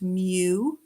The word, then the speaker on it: mu: the greek alphabet and we use the greek letter m which is pronounced mu and when you write